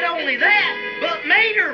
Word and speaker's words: Mater: not only that but mater rhymes with tater too come on let's try